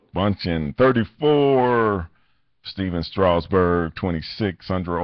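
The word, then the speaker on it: Bündchen: Bundchen, 34.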